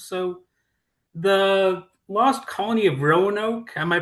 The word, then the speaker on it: Roanoke: So, the lost colony of Roanoke, am I pronouncing that correctly even?